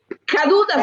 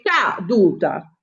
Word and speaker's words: caduta: Ora io capisco che l'accento va sulla prima vocale incaduta perché non è cadu, è caduta.